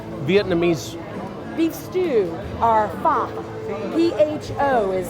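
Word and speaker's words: phở: Michelle we're making Vietnamese beef stew our fam p-h-o is how it's spelled okay so how do we do this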